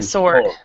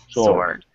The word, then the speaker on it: sword: With a sword. Sword. Yeah. Sword. And in the word sword, you do not pronounce the W.